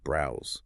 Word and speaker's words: browse: To say it correctly, you must activate your vocal cords and produce a hard, buzzing Z sound at the end. Browse.